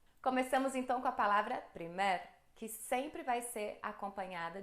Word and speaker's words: primer: transformam observação número 2 a pronúncia é de uma palavra oxítona É nesse aguda Então